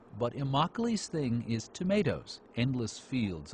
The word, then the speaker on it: Immokalee: this part of Florida has a name that rhymes with broccoli but imi's thing is tomatoes endless